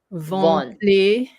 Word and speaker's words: Van Cleef: So she's saying that can we use this occasion to remind everyone that Van Cleef actually is pronounced Von Cleef, Von Cleef.